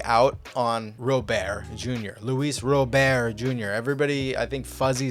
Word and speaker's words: Robert: think fuzzy said something you've been saying it wrong well it's spelled Robert so guess what I'm going to call him Robert I don't care it is what it is it's an American accent I call him Robert